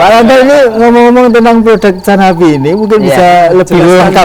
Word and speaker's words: Channabee: Ini bacanya Canabi. Cana apa kana? Canabi.